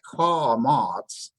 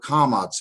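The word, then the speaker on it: קמץ: Now if you listen to it carefully as I say it, kamots, it almost makes the vowel sound. The vowel sound that I'm saying, aw, as in father, or the word, I like to use the word law, because it's a longer sound, aw.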